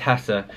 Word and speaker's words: Hesse: Tock corrected me because I was calling him Hermann Hess but before that I'd been calling in him Hermann Hesser and somebody on YouTube said no it's pronounced